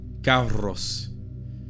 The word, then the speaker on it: carus: The letter C was always what we call in English a hard C. Ca, never ch or s. For example, carus, which is a word